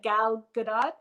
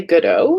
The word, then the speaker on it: Gal Gadot: I don't know if I pronounce it right, but Gal Gadot, I think. Yes. Oh, Gal Good. I always want to say Godot and pronounce it like I French. do too, but I think there's a T.